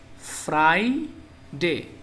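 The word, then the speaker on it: Friday: তো ইংরেজিতে যাকে বলে ফ্রাই ডে এফ আর আই ফ্রাই এখানে ফ্রি না ফ্রাই হবে ডি এ ওয়াই ডে ফ্রাইডে বন্ধুরা এই ছিল সাপ্তাহিক সাত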